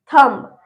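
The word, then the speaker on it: thumb: थंब, थंब में अंगूठा, तो इसमें भी हम बी को साइलेंट रखेंगे, थंब पढ़ेंगे हम, थंब।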